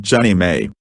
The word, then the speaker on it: JNMA: They sanctioned the proposal, and the non-profit Jefferson National Expansion Memorial Association, JNMA, pronounced Jenny May, was formed.